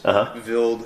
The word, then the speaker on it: Wild: speak mhm wild yeah so you pronounce it vild German yeah all the microscopes in here with with just a couple exceptions are are Swiss vild Scopes uh the advantage